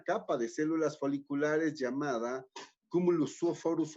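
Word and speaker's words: cumulus oophorus: Esa capa de células foliculares se llama, ¿sí?, cumulus oforus. Cumulus oforus. Cumulus se escribe C-U-M-U-L-U-S.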